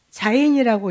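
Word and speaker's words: זין: 자인이라고 읽어요.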